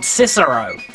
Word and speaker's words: CSIRO: in Australia pronounce it CSO not cisero it's not pronounced CSO jera it's spelled CS i o it's an acronym in the states we usually pronounce acronyms as if they were words I do thank you